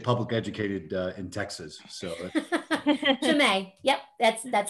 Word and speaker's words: Chimay: So Chimay.